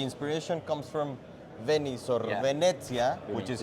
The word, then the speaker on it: Venezia: So can can you talk to us about where I I mean of course the inspiration comes from Venice or Venetsia which is how you pronounce it.